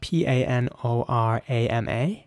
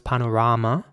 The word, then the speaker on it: panorama: is similar it's spelled p-a-n-o-r-a-m-a and the same principle applies so it's Panorama in British English and Panorama in American English here's an example of